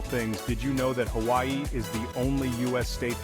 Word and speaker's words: Hawaii: sound like you're riding a wave of perfect pronunciation and speaking of unique and wonderful things did you know that Hawaii is the only US state that grows coffee